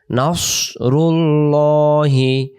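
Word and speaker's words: نصر: এর সাথে কথা বলব ইজ এর সাথে যা নাসরুল্লাহি নাসরুল্লাহি না আওয়াজটা এমন আসবে আর যদি আমরা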